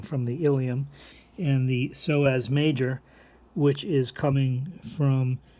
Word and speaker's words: psoas: something called iliopsoas okay the p in psoas is silent so we say psoas and then we also